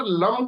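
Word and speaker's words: लं: में पैरों नंगे घूमिए, लम का उच्चारण कीजिए। इस तरीके से एक साउंड आती है जिसे हम बोलते हैं लम, तो ये साउंड आती है।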